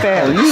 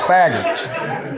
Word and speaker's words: Faggart: Farragut. She pronounced my name wrong. It's Faggart.